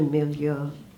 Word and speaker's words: milieu: to school there, suddenly I was in a milieu, that's how you pronounce that word, with people who are just much more like me.